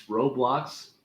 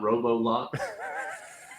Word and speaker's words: Roblox: I do know that there is no o between the B and the L in Roblox are you messing with my pronunciation no just saying it's Roblox not robo-lock you say whatever you